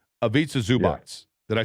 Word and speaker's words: Ivica Zubac: Ivica Zubac. Yeah. Did I say that correctly? Ivica Zubac.